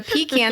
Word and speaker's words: pecan: Well, because you're saying it wrong. That's half the reason it doesn't sound good to you. If you called it a pecan, that sounds much better.